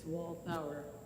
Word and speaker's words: Walthour: Sue, did I pronounce her name right? It's a tricky one. It's Walthour. Walthau? Walthour.